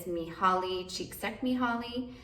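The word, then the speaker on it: Mihály Csíkszentmihályi: I believe the way that you pronounce his name is Mihaly Csikszentmihalyi.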